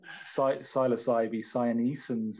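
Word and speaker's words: Psilocybe cyanescens: popping up all the little wavy caps um psilocybee cyanos ends is that how you pronounce it I'm not even sure psilocybee cyanescence is the there you go is the the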